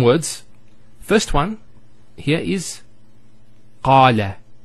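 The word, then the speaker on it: قال: First one here is qala. Notice the elongation of the A sound. Qala, not qala, qala. So we have the fatha on the qaf followed by the alif.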